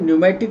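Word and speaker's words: pneumatic: पी न्यूमेटिक bone, P silent है, न्यूमेटिक इसको बोलते हैं।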